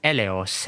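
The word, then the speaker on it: Eleos: Her code name is pronounced Elos and means pity, mercy, or compassion.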